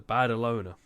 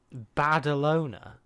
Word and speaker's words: Badalona: know in Spain the bad alone I've definitely pronounced that wrong badalona Barcelona no it is b-a-d-a loner oh okay I don't